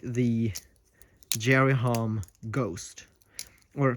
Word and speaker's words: G10ST: like the Jerry Hom Ghost, or people call it the Ghost, but if you actually look at how it's spelled, it is G10ST, which doesn't spell ghost, but people just call it that.